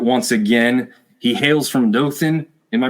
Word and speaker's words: Dothan: welcome Grayson Stewart once again he hails from Dothan am I pronouncing it right Dothan Alabama do Dothan Alabama Dothan Alabama a state